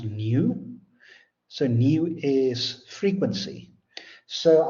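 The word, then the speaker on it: ν: we have V so as actually V it's pronounced new so new is frequency so I don't like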